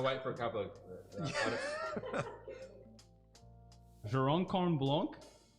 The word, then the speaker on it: Jurançon: Jurocon Blanc. Jurançon. Yeah, my pronunciation is so bad.